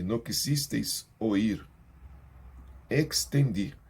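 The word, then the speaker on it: extendí: Por quanto llamé, e não quisisteis oír, extendi. Quando tem um X, nessa posição semelhante aqui no estendi, você vai falar esse X muito bem pronunciado. Extendi. Extendi mi mano, e não houve quem atendesse.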